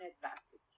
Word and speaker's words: advantage: we have for example the first one advantage advantage advantage the stress on the second syllable al advantage when i add us okay advantageous advantageous so here we have we move the stress from the second to the third one for example or when